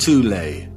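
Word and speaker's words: Thule: called the th Society sometimes alternatively pronounced tulle that had one of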